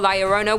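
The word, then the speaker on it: La Llorona: a number two layerona hailing from Hispanic folklore liarona which I'm pronouncing correctly now after you guys yelled at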